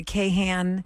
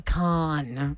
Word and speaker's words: Kahan: say that Noah Noah but how do you say k a h a an k a con yeah it's con but a lot of people say Noah Kahan Noah Kahan Noah Kahan it's Noah Khan uh we had great